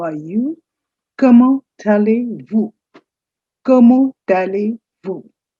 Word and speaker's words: allez-vous: Comment allez-vous? Comment allez-vous? The T of comment and A of allez, they link up.